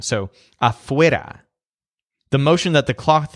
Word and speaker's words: afuera: So notice that the stressed syllable is wear, like you're trying to wear something. So afuera.